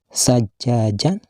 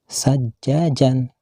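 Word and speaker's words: ثَجَّاجًا: Dan kalimat sajajan, bila dihentikan membacanya tidak boleh dibaca sajajan, akan tetapi harus dibaca sajaja, panjang pula dibacanya sekitar 2 harkat atau sama dengan 1 alif.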